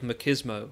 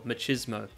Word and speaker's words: machismo: And he says these things because of his tremendous feelings of machismo, or machismo. Trust me, both pronunciations are fine.